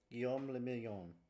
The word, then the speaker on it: Guillaume le Million: Guillaume la Million. If it doesn't rhyme, you're not pronouncing it right. Guillaume le Million.